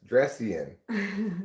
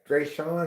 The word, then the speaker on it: Dawn: Dress Dresian. Maybe I even did it today. Dawn is your name. Dawn. It's not Dresian.